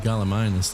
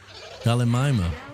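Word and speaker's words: Gallimimus: So, we need some galaminas. That's what I was going to do. There we go. Gimal control. Galamus. Galamima. Okay, I'm completely pronouncing it wrong.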